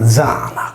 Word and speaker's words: Diana: Diana si leggeva Zana, come si pronuncia ancora oggi nel nuorese, il nome della nostra diva lunare primordiale.